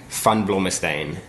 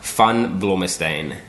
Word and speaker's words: van Blommestein: Van Blommestein, which nobody can pronounce, so don't even worry about it. One more time. Van Blommestein.